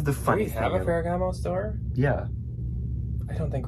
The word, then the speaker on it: Ferragamo: said it right it's salvatore it felt ragama ferragamo did you hear so we went to the